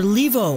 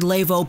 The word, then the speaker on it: Leivo: a Canucks fan so I've heard leave oh I've heard Laveau personally I say leave o it rolls off the